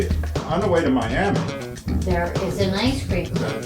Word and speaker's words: Miami: to that area and we are not saying miami right in miami and this is the coleman theater in miami miami that's how they say it i think we're at